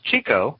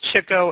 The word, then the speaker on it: Chico: great story behind it most people think it's Chico because that's the way we you know Chico in the man these days we've read print pronounced it that way but it was Chico and did it Irv